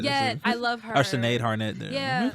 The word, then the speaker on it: Sinead Harnett: Oh, I always say her name wrong. That's why. Oh, Sinead Harnett. Yeah, I love her. Or Sinead Harnett.